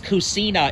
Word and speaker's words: kusina: in Tagalog oh Christina oh yeah like in Spanish casino because it's kusina it's kusina in Italian I got